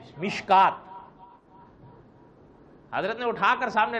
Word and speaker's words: مشکات: بدھ نہ ہو تو مشکات شریف کا تلفظ یا لفظ ایسا لکھا ہوا ہے کہ آدمی اس کو مشکات پڑھنے کے بجائے مشکوت پڑھے. کیا پڑھے؟ حالانکہ اس کا صحیح تلفظ کیا ہے؟ مشکات.